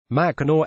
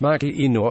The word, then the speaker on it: Mackinac: pence did not immediately respond to a request for comment Sunday night Mackinaw pronounced machina is one of a handful of places across